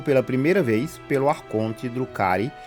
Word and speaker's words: Drukhari: Os Drucari Eldarix Malum pronuncia-se Drucari ou Dark On no léxico Aldari, também conhecido por forasteiros como Dark Eldar.